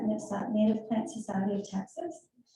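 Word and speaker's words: NPSOT: We have stuff for NIPSOT, we pronounce that NIPSOT, Native Plant Society of Texas.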